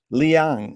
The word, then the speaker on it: Liang: pleasure today to be here with CeCe Lee Liang is that correct way to pronounce it yes that's correct CeCe thank you